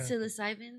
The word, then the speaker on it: psilocybin: without the how do you say psilocybin psilocybin they yeah they get them in the